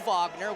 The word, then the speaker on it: Wagner: take the leap that he's German so we're going to say Wagner CU I know fron and mo Vagner with the uh Orlando Magic and that's the way you're supposed to pronounce it if they are of German descent nice fake there by